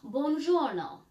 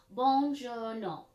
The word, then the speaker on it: buongiorno: How about buongiorno? That's Italian for hello. How many syllables are in buongiorno? 3.